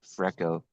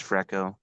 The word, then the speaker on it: Freeco: as Greco and freestyle, so we combined the name Freco. It's spelled Freeco. We kind of had a legal threat about namesake, so we added another E. It used to be one E, but it's Freco, Freestyle Greco.